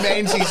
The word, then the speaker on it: Menzies: the radio sorry and they mentioned john menzies in a different way was weird i was in a car listening and they pronounced the business john mingus has gone under and i'm like john